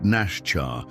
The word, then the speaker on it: Nasha: For bed, the girl said in halting English, "I am Nasha." She pronounced it Nashchar with a soft emphasis on the first syllable.